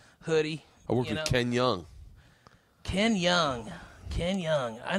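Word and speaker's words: Jeong: said Ken Young yeah kin young that's how you say it in Korean no you don't it's k j they don't say Jung they say young dude I made I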